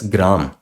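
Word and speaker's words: ग्राम: You pronounce this as gram. Gram. First G comes, then R comes. First ga comes, then ra comes.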